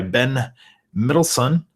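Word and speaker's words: Ben Mendelsohn: is the villain director Orson krennic played by Ben midson that's how you say it I like his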